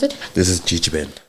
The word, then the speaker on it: Gegeben: So, let's talk about the start of So, how do you how do you pronounce it? This is Gigi Ben. GG Ben.